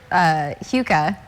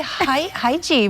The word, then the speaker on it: Huka: And that's, I know, so Tracy had to send me a pronouncer for Huka. Yeah, I would say Haiji, but Huka, what a name.